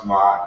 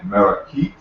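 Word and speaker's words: Maat: You actually don't pronounce ma'at correctly, but that's another topic. It's more closely pronounced something like merakit.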